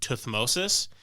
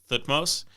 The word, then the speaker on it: Thutmose: Some people, particularly British, pronounce his name Tuthmosis, but it seems like a lot of modern anthropologists pronounce it Thutmose, so I'm going to go with Thutmose.